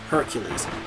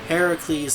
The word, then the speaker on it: Heracles: saying Heracles it's because in Greek Hercules is known as Heracles in Rome and he's known as Hercules Heracles is closer to the proper is the proper Greek pronunciation Hercules is more of the Roman pronunciation if you will here